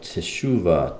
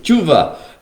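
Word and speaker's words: תשובה: the whole realm of Teshuvah, Tefillah, Tzedakah, Tshuva, as it's sometimes called by the Ashkenazi, Tshuva. But it's teshuva is the way it would be pronounced, I suppose, by the Sephardic.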